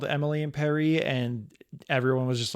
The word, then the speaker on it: Paris: Paris I'm always like it's supposed to be pronounced Emily and Perry and the Creator hates the fact that no one calls it that and isn't she going